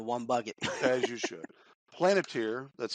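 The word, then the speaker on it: Palantir: Planeteer, that's spelled P-A-L-A-N-T-I-R.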